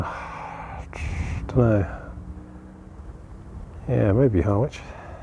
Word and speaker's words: Harwich: Yeah, maybe Harwich. Harwich. Another one of those pronunciation minefields. It's got a W in it. Too many silent letters in this language.